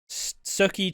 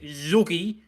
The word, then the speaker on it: Sookie: I do love how everyone pronounces Sookie's name, because it's not differently. Because it's not Sookie. You go to Johnny, it's like Zookie.